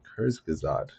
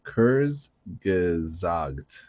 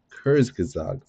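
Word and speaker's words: Kurzgesagt: If you want to learn more, I suggest watching the Kurs Gazad YouTube video on it. That's right. It's pronounced Kurs Gazag. Kurs Gazag.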